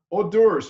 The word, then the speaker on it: hors d'oeuvre: Hors d'oeuvres or hors d'oeuvre, O-R/D-E-R-V, if you don't know how to pronounce it, hors d'oeuvre, okay?